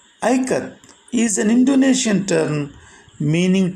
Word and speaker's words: Ikat: to pronounce the word i cut the word is pronounced as i and k a as in kamala and she told them i cut these and indonesian term